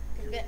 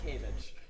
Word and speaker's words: kvetch: Kvetch. Kvetch. Kvetch. You pronounced it earlier as Kavich, which I liked.